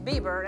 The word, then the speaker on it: Bieber: He's new cuz I said Biber. His name is Bieber.